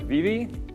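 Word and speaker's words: Vivy: making this anime called, I believe it's pronounced Vivi. It's V-I-V-Y.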